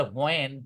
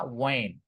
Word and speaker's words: when: অনেকে বলে হোয়েন, হোয়েন না, ওয়েন। ডাব্লিউ এবং এইচ যখন শুরুতে থাকে তখন এইচ এর উচ্চারণটা ওইভাবে হয় না, রাইট?